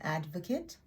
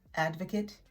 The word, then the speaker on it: advocate: when somebody is an advocate but as you can tell advocate and advocate are not pronounced the same this dress is on a different part of the word and that is actually